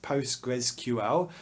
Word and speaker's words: Postgres: Postgres is written like this, PostgreSQL, but most people will pronounce this word Postgres.